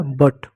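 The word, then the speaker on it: but: देखो जैसे बी यू टी, तो 2-3 कॉन्स्टेंट के बीच में यू है, यू को अ यानी साइलेंट होगा। तो बी का ब लिख दो, टी का टॉ लिख दो, हो गया बट।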